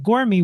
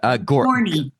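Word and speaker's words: Gorney: And Annie also has a run-in with Ralph, played by Walt Gormy. What was he? Did I pronounce that right? Gormy? Gorny. Yeah, Gorny.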